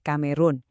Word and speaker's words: Kamerun: Karena bahasa resmi di sana itu Perancis di mana huruf C dibaca K dan O dibaca U. Ya, kita sesuaikan aja. Jadi deh Kamerun biar pas sama pelafalan aslinya.